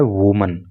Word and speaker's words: woman: देखिए WOMAN होता है तो ये एक महिला के लिए यूज होता है और इसका जो प्रोनाउंसिएशन होता है वो होता है वुमन। लेकिन जब एक से अधिक महिलाओं के लिए इस वर्ड को यूज करते हैं तो WOMEN हो जाता है और उसका प्रोनाउंसिएशन भी बदल जाता है, फिर उसको बोलते हैं वीमन।